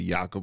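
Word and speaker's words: Jakob: said something about how his name was spelled Jacob but you pronounce it yakob or something like that yeah yeah he did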